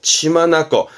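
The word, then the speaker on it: 血眼: 우리 흔히 뭐 혈안이 되었다는 말을 하잖아요 이때 발음은 치마 났고 둘 다 뜻입니다 치 만나고 치마나고 그 우리 흔히 뭐 혈안이 되어서 치마 아고니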